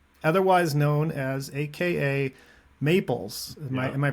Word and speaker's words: Mayples: And I was just saying, this is the first time I've ever seen that name, otherwise known as AKA Mayples. Yeah, Am I pronouncing that correctly?